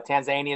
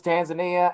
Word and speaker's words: Tanzania: Zimbabwe Uganda um uh Tanzania is looking to legalize have licenses tan Tanzania you know what I thought it was Tanzania and everybody says no you're pronouncing it wrong it's Tanzania I was like okay well